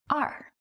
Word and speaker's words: 二: The number 2 is pronounced as R.